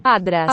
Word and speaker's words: άντρας: Anytime you have a nasal followed by the voiceless stop letter, like here, na, ta, Άντρας. they're going to fuse into a d, even across word boundaries. Άντρας. So the sound really is ad.